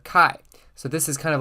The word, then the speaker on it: chi: a couple of notes this is pronounced Kai and not chai and not Chi it is the kai